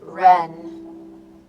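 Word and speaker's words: 仁: central concepts of Confucianism Jen pronounced Ren humaness or human heartedness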